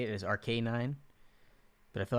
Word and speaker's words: Arcanine: that i change it arc arc a9 or arcanine arc arc a9 yeah i feel like that's right rk9 because it's a k9 it's an rk9 it's not a canine